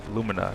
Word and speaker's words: Lumina: Color of lumina, right?